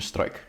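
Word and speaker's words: Struik: came from darkk St strike the correct pronunciation strike mhm he was a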